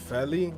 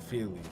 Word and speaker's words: Feli: So Feli, not Feely.